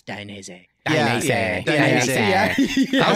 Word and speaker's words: Dainese: How many different ways is there to pronounce that word, by the way? It's Dainese.